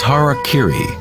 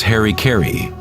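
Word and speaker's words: hara-kiri: suicide or seppuku was hara kiri was often mispronounced as harry kerry it means to impale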